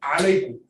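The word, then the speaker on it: عليكم: When people give the salam, it's assalamu alaikum.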